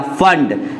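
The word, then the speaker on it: Pfund: और इस P का मतलब क्या हो गया, फंड। ध्यान रहे इसमें P साइलेंट है, फंड सीरीज।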